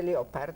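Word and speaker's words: Llopart: Mercedes Leopard, si pronuncia così, è l'insegnante a cui lei deve di più, o quasi sì, tutto, sì, molto sì.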